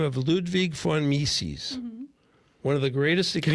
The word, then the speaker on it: Mises: Ludwig von V-O-N Mises. Oh, I thought it started with an F. I'm already wrong. M-I-S-E-S. Von Mises. Von Mises.